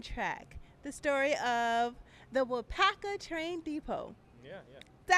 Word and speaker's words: Waupaca: And so once I watched the film in the preview, I was like, that's how you say it, Waupaca.